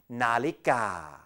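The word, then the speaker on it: นาฬิกา: And here's the other one, nonu, and the vowel sound of a again, na, followed by law jula, and the vowel sound of I, li, and finally gor gai, and the a sound, ga, nalika.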